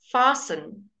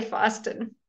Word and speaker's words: fasten: lives in a car fasten we don't say for ustin okay fasten listen listen